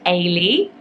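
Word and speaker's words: Eilidh: how to pronounce, but apparently it is Ailey. Isn't that such a pretty name? The spelling of it is absolutely gorgeous. I wasn't sure if it was Ailey, Eiley. So people are even saying Eilish with the kind of SH sound at the end, but I think that's a different name. So hopefully I'm pronouncing it right by saying Ailey.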